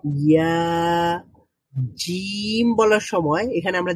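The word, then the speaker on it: ياء: আর ইয়া বলার সময় আরেকটু ফাঁকা হয়ে যাচ্ছে। তো জিম বলার সময় জিহ্বাটা এবং প্যালাটের মধ্যে যতটুকু ফাঁকা রয়েছে, শিন বলার সময় আরেকটু বেশি ফাঁকা রয়েছে, এবং ইয়া বলার সময় আরেকটু বেশি ফাঁকা রয়েছে।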